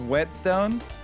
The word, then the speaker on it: whetstone: It's pronounced whetstone. I thought with like the WH cause like the weh.